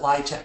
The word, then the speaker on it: LIHTC: Now, LIHTC, first thing of jargon, you have to pronounce it LIHTC. Pronouncing it any other way casts you as an outsider.